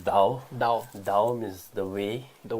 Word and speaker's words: Tao: Or as you say, Dao of Physics. How is that? Yeah, the Chinese pronunciation is, I think, is Dao.